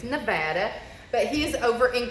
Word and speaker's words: Nevada: saying exactly how you say it so it's Nevada but he is over in Crystal today at